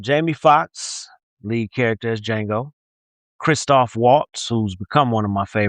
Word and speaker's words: Django: And this week we chose Django Unchained. The D is silent.